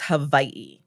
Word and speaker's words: Hawaii: to say it is Hawaii. Hawaii. Yes. The W, so it's pronounced, there are two different ways to pronounce W. If W is in the middle of a word, it's a V.